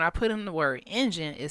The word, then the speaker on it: Injun: word engine it said engine is an offensive term that is outdated mispronunciation of the word Indian it was originally used in the 17th century to mock or impersonate the supposed heavy accents of Native Americans you know those are